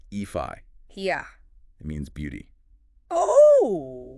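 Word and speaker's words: Aoife: me more we'll take EO for instance AO pronounced eii yeah it means Beauty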